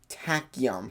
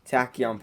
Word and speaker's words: tachyon: In place of the eternity button, it says gain 1,290 tachyon particles. Well, that's how I pronounce them.